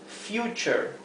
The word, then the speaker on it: future: Si la U, en cambio, viene seguida por una sola consonante, por una consonante simple, se pronuncia U, la U, ¿verdad? Por ejemplo, future, future.